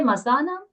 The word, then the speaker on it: मासानां: Does it say masanam? Boys and girls. What does it say? Masanam, right? There's a long A there. The meaning of the word changes when we don't pronounce it right in Sanskrit.